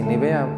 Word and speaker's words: Nevaeh: vida de Melanie y Nivea. Le pregunté, ¿cómo se pronuncia tu nombre? Sí, Nivea, así como cuando no quiere ver uno.